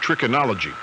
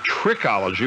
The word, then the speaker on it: trichology: So said Rita, and she accused me of trichinology. And trichinology, actually not the words, we then learned that trichology was a Malcolm X term. She just added a syllable that wasn't there.